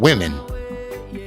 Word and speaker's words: women: Women. I always pronounced how it was written.